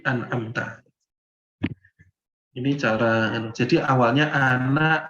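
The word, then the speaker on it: أَنْعَمْتَ: Jadi bacanya bukan an'amata, tapi an'amta.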